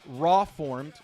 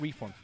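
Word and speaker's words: Rawformed: It's pronounced raw formed, not reformed.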